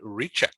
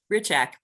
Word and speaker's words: Hrichak: an old friend richard did i pronounce that right richak just forget the h is there in the beginning great okay so is